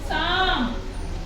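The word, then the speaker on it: psalm: हमेशा साइलेंट रहेगा जैसे प एस एस ए एल एम इसको हम बोलेंगे साम इसको हम य पी को नहीं बोलेंगे ठीक है ए से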